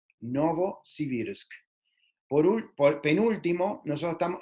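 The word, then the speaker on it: Новосибирск: nueva ciber ya que en ruso se pronuncia novosibirsk novosibirsk por un por penúltimo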